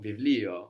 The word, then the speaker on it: βιβλίο: So we said vita, the letter that looks like a B is pronounced like a V sound in Greek, like in the word book, which is Βιβλίο. vivlio, or problem, which is Πρόβλημα.